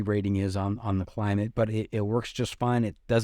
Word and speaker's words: Klymit: I think it's pronounced Climate. It's Klymit, Climate, and it's an inflatable.